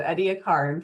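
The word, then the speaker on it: Ediacaran: Everything that happened before the Cambrian period, here's the Cambrian period, we call the Say it to yourself, pronounce every vowel, Edia. So the Ediaarin period, this was 635 to 543 million years ago.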